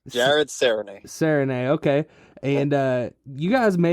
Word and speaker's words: Serigné: It's Serigne. Jared Serigné. Serigné, okay.